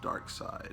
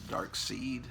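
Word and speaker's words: Darkseid: kid i pronounced the dark seed i thought it was pronounced dark seed it just seems like it it sounds better as dark seed to me it looks like it's written dark seed anyway one of these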